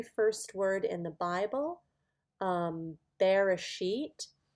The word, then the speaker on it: Bereshit: This is the very first word in the Bible, Bereshit. Bereshit. You can kind of see the B-R-A, Bera, S, Y-T, Bereshit.